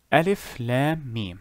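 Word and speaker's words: الم: three letters connected together alif lam me now how would i pronounce this you would pronounce each letter individually alif as you can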